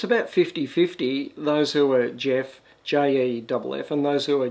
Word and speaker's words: Geoff: in Australia it's about 5050 those who are Jeff jouf and those who are Jeff